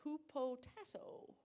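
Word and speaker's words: hupotasso: want to try it h-u-p-o-t-a-s-s-o who po tasso that's not right huppo means under and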